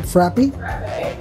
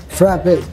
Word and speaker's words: frappe: frappies it's I'm saying is it frappy frappe yeah frappe I have a specialty for